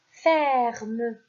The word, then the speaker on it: ferme: Ici, comme je vous ai expliqué tout à l'heure dans la leçon, lorsque le E est suivi par deux consonnes, le E se prononce et.